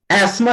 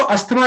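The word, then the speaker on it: asthma: किसी को अगर अस्थमा बीमारी है तो अस्थमा नहीं बोलना, एस्मा बोलना।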